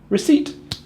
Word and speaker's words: receipt: I've heard so many people try and say receipt or receipt. The truth is, it's actually much easier to say receipt.